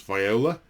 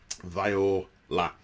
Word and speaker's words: Vior'la: Then Vior'la, the warrior sept, which I need to not pronounce Viola. Vior'la.